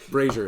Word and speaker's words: brazier: you thought it too brazier brazier is how that word's pronounced tie a string to